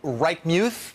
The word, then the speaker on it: Reichmuth: We turn now to Chief Meteorologist Rick Reichmuth.